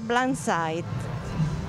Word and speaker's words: Blinsight: blindside e u si pronuncia blindside perfetto E allora Laura